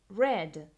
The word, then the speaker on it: read: El verbo leer, read, en pasado simple se va a escribir exactamente igual, pero se pronuncia distinto, read.